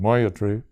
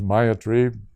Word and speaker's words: Maitri: The Mayatri commentary, some people pronounce it Mayatri, others Mayatri, because we're over here reading the letters.